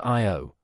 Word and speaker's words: Io: On Io, pronounced Io, the probe caught the Tvashtar volcano in action, capturing a volcanic eruption that reached 200 miles, 320 kilometers, into space.